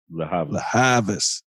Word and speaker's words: Lianne La Havas: Lianne La Havas? La Havas.